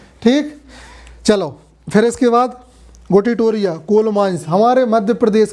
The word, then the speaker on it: गोटीटोरिया: गोटीटोरिया। किताबों में लिखा होगा गोती तोरिया, है ना? काहे कि वो मध्य प्रदेश नरसिंहपुर के नहीं तो उनका प्रोनाउंसिएशन गलत होगा, लेकिन अपना प्रोनाउंसिएशन गलत नहीं होगा।